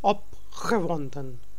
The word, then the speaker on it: opgewonden: Because now it's starting with G, so it's we are saying opgewonden.